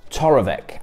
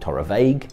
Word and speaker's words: Torabhaig: Ben Bowers, the spirit specialist, and I am here today to talk to you about Toravek Allt Gleann or Allt Ghlinne depending on your pronunciation.